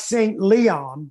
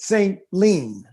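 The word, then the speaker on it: St. Leon: and they pronounce it it looks like St Leon but if you're from there they pronounce it St Len St ly see see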